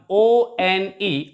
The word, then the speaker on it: one: one o n e of course it starts with it begins with the letter o which is a vowel but when we pronounce it we pronounce it like one and ver sound is a consonant sound that's why we use